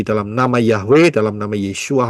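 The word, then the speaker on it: ישוע: ya yotsin W Ayin Bacanya adalah yesua yotsin wo Ayin tidak bisa dibaca Yesus pahami baik-baik ya tidak bisa jadi bacanya harus pakai Ibrani enggak bisa pakai Indonesia nama juruelamat yang disediakan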